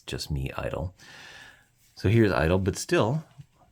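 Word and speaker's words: (G)I-DLE: I love where here the name of the group is Idol and soyan has stated in interviews that that's that's how the group's name should be known and pronounced as Idol now definitively and also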